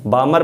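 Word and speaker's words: Balmer: बनता है प्राग में बामर बामर यहां पर जो है एल साइलेंट है तो बामर सीरीज पढ़ोगे बलम ने पढ़ इसको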